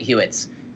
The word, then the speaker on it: HWWETS: It's hashtag HWWETS, and I pronounce it Hewitt's.